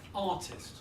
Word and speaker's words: artist: but she is a painter as well say artist oh this artist artists artists good you write